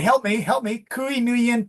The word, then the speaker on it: Nguyen: And thank you, Hui, for teaching me that the family name is Nguyen, like that, right? Remember Still you not taught. correct, but yeah, acceptable. All right, help me. Kui Nguyen T.